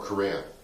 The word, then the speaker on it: Correa: I wish I knew which one I hit the home run off Carrera with. Is that how you say his name? Carrera? Correa. Oh, Correa.